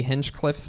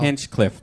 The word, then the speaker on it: Hinchcliffe: inch plus h h it's not itch there's not an inch in there it's h plus inch Cliff plus C that's how I tell people to spell my when